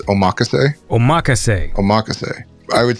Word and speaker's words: omakase: I think there's 2 ways to say it. I'd say the correct way of saying it, I've heard more online from actual Japanese people, is omakase.